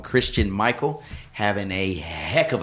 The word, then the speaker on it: Christine: these birds, this Christine, it's spelled Christine, but they call him Christian Michael having a heck of a camp.